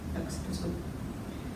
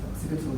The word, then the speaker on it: occipital: You can never pronounce it, occipital. And just, you might like to... Occiput is the back of the head. Occiput. Yes, occipital is an adjective, occiput is the noun.